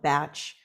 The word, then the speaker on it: Bach: named Edward Bach and the correct way to really say his name and you'll hear it from those really uh profound and focused uh practitioners especially in the UK they'll call it batch Flower Essences but I'm